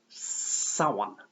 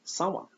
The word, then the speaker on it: Samhain: Apparently it's pronounced Samhain. Samhain.